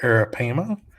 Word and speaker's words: arapaima: A 10-foot arapaima, let me just pronounce this correctly here, arapaima, washed up on the shore of Cape Coral's J.C.